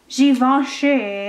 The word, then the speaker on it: Givenchy: And then I have this other Guerlain, no, Givenchy, I've been saying it wrong, in like this hot pink color.